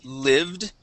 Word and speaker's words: lived: Okay, and one last word is lived. Okay, we all lived together with a short I instead of lived.